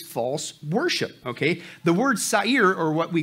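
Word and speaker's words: שָׂעִיר: Now, what's wild in the Hebrew, that word there in the Hebrew, okay, is satire, pronounced sa'ir, okay, and you know what it means?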